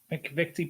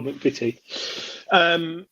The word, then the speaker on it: McVitie: Say it right. McVitie Biscuit. Oh, McVitie.